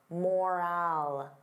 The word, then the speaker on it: morale: Now compare that to moral. Moral. The sound is less stressed. I don't open my mouth as wide. Moral, moral.